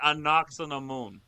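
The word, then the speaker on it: Anck-su-namun: It's It's spelled Anksu namoon. I know, but he says it. Anakamoon. That's how he says.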